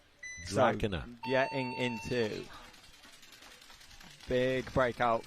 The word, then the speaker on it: Drakaina: Everyone says it differently. It's meant to be Drakaina, apparently. Really? But nobody ever says it like that. Drakaina.